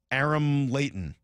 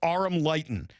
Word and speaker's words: Aram Leighton: I'm gonna have to like I'm gonna have to write it phonetically on my show here. Arum Lighten in 20 minutes on Brock and Sulk.